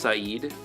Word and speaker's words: Saeed: Which is pronounced Saeed, is what he told me how to pronounce it.